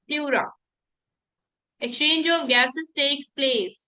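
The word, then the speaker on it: pleura: or number four plura plura it is pronounced as plura exchange of gases takes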